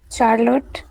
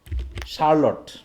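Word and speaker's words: Charlotte: এই উচ্চারণটা বলতে পারবো কি কি হবে এটার, চার্লট। চার্লট, তাই তো, উচ্চারণ কথা চার্লটি, এরকমই তো নাকি, অনেক স্টুডেন্ট বলে থাকে আর কি এটা চার্লটি, এটা হবে কি, স্যার ই সাইলেন্ট আছে।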